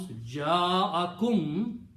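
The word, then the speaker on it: جاءكم: So you pronounce ja'akum, came to you. He came to you. Third person he. Okay. So what the combination is now? Ja'akum will be pronounced as ja'akum.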